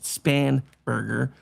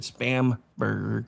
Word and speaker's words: Spanberger: her being I know her name is actually pronounced Spanberger. I pronounced it spamburger because you know she was fake to begin with.